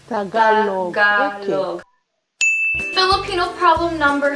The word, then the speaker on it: Tagalog: When people pronounce Tagalog, or Tagalog, I understand you can pronounce it any other way, no one really cares. Pero it's Tagalog. Tagalog.